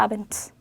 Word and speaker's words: Abend: 그래서 아벤드가 아니라 아벤트, 타그가 아니라 타크, 발드가 아니라 발트로 바뀌었어요.